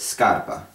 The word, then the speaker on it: scarpa: So anytime where chi makes a k sound, when you add an s, it becomes sk, like in the word scarpa, spelled like this.